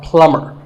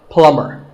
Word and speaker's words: plumber: You call him a plumber, not a plumber. The B is silent, so plumber.